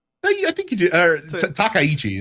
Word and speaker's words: Takaichi: Takaichi is how you pronounce the last name.